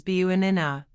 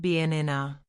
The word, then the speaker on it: banana: Americans often say banana as buanina, not banana. The first syllable becomes a weak quick schwah.